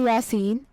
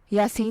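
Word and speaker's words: Yaseen: उर्दू माने है बहादुर और नदर नाम है यासीन स्पेलिंग है वाई ए S double E एन यासीन नाम के उर्दू मानी है कुरान पाक की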